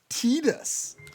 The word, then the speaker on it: Titus: And where do you stand on Titus versus Tetus? I stand on however the game pronounces it. It does not. It doesn't because you can name the character. Well, they got they have to pronounce it in some game officially. Yeah. In like Didia and that's how that's how we know that it's it's Tetus, but it sounds stupid.